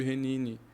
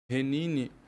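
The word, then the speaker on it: הִנֵּנִי: a expressão eis-me aqui que no hebraico se pronuncia por renini renini existe uma uma uma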